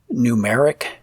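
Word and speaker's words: Gnumeric: certainly worth a good hard look I use numeric for spreadsheets and again that's spelled g-n-u-m-e-r-i-c that gnu moniker and there's also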